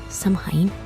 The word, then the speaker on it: Samhain: Samhain, pronunciado Samhain, era um dos mais